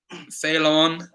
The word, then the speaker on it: Ceylon: name of which country Ceylon is the former name of which country because they seconds Cey LOM it's pronounced something like that sale on sale on Ceylon give the farmer